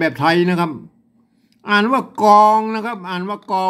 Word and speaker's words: กล๋อง: ว่า ของ นะ ครับ อ่าน ว่า ก๋อง นะ ครับ ไม่ ใช่ กลอง นะ ครับ อ่า อ่าน